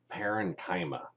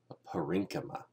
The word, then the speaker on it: parenchyma: Now, whenever you see funny words like this, generally you don't pronounce the first syllable really strongly. So students will like to look at this word and say parenchyma. But that sounds a lot less elegant than the real pronunciation, parenchyma, collenchyma, sclerenchyma.